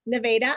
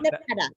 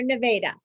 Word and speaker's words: Nevada: Wait, how do you pronounce it again? Nevada, am I saying that right? Yes, Nevada, Iowa. Duh. Not Nevada. We are Nevada.